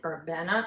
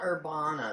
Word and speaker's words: Urbana: meet and greet in Urbana Ohio not how Urbana yeah not Urbana that's wrong that's not how you say it it's Urbana oh to the meet and